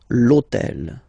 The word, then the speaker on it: hôtel: starts with H, but remember that in French we don't pronounce H, okay, so basically the first sound of the word is the vowel O, okay, so for the same reason, needs to disappear.